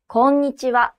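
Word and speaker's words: こんにちは: এটা মনে রাখার ইয়ে কি? কঞ্চি আছে না পাশের কঞ্চি?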